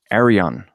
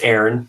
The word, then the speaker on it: Aaron: pronounce it right, but Arion. I think I did it wrong before last time too. You did. That's okay. Say it again. It's Aaron, just like Moses' brother.